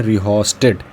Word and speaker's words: rheostat: इसको बोलते हैं रिहोस्टेट, रिहोस्टेट।